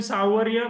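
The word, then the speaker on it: Sanwaria: करतोय तर हे आहे सनवरिया कंजुमर्स क्चुली सावरिया कंजुमर असं तर प्रोनन्सशन आहे तर यामध्ये पहा यामध्ये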